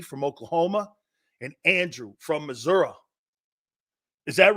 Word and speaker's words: Missouri: Congratulations, Lee from Oklahoma and Andrew from Missouri. Is that right? Am I saying it right, Andrew? Missouri. It's not just Missouri. It's Missouri.